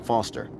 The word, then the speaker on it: Foster: pickle so it does I'm Foster I'll remember that easy because your name rhymes with fossil and you're old thanks